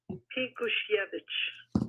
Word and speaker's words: Pinkusiewicz: I got the right pronunciation of his name from a Polish woman I know. Can you say it for us? Pinkusiewicz. Yeah. I'm just gonna say it's a Pinkusiewicz. Everybody's saying it wrong.